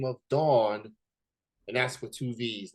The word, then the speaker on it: davvn: a unique name and it's pronounced as the soap that you use to wash your bodies and things like that uh they go by the name of Dawn and that's for two